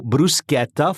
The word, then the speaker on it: bruschetta: And so bruschetta follows that same kind of rule system.